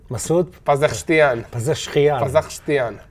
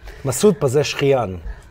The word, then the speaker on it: Masoud Pezeshkian: Masoud Pezeshkian.